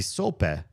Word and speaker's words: sope: I mean, it's not necessarily the end-all be-all of sources, but sope, food. A sope, Spanish pronunciation, sope, is a traditional Mexican dish consisting of a fried masa base with savory toppings.